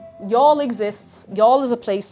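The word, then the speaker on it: Youghal: Um, you'll lose your mind when you see how it's spelled. That's how you spell y'all. Y O U G H A L.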